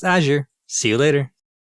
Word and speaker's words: Azure: It's pronounced Azure.